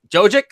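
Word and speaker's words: Jokić: Like, first, I'm going to try and pronounce it correct. Jokic. Think about yolks. Damn, yolks. Think about a yolk. I'm Jokic.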